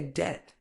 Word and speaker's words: debt: EG table it's vegetable debt the beat is silent just say debt Island the S is